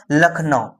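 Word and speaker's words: Lucknow: अब लखनऊ तो एल से है ना? है ना ल ख न तो ल का एल लिखोगे फिर ए लगाओगे ख एन ऐसे तो बट इसका स्पेलिंग क्या है एल यू सी के एन ओ डब्ल्यू होता है ठीक है तो ये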